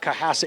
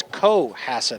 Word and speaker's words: Cohasset: It's not Cohasset, it's Cohasset. I have to make sure I pronounce the long O.